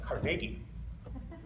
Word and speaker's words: Carnegie: But apparently, they, at least in Philadelphia, they actually pronounce it Carnegie.